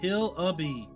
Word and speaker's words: Hillibee: Welcome to Hillibee Creek, pronounced Hillibee.